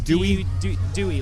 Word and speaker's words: Dewey: It's Dewey? Dewey, like the decimal system.